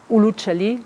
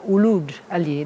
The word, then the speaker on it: Uluj Ali: Uluc Ali, Uc Ali, Luc Ali, Oc Ali, Uluc Ali, among the many others. These were all mispronunciation of Uluj Ali, that meant Ali, the Christian renegade.